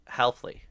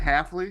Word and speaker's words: Hafley: I said Halfley. Isn't it Hafley? Halfley. Yeah, there's not a first L.